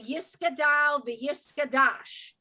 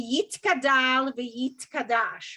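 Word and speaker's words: יתגדל ויתקדש: with the Ashkenazi accent, they will say Yiskadal v'Yiskadash, when it's actually Yitkadal v'Yitkadash, right?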